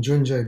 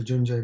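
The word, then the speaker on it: Cundi: We can just read the beginning of the Junje Bosal part. In Sanskrit, it's spelled kundi, as if it's kundi, C-U-N-D-I.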